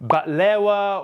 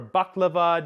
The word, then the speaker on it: baklava: Things like mamoul, which is stuffed shortbread cookies with either dates, pistachios, or walnuts, batlewa or baklava, depending on how you pronounce it, and sesame-based desserts like halewe, all